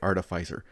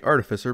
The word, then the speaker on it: artificer: You know, I guess if you're old English, sure, you say artificer. I'm sure if you're French, you say artificier, but I say artificer because artifice is pronounced artifice, and then you add an R on the end, it's artificer.